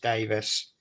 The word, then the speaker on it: Davies: Yeah, so just pop in Davies World, but it's pronounced Davis.